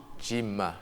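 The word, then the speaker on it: Djiman: ve je vais vous parler du prénom diim Jim Jim Jim oui qui s'écrit DJ i m a n ok un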